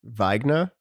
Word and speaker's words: Wiegner: Wiegner. Close, but wrong. Okay. All right, I'm out. That was it. Nah, I had one chance. It's so I think it should be technically Wiegner because it's German.